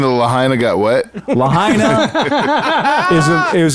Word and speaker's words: Lahaina: of the island called Lahaina or it's pronounced Lahaina like vagina and this is where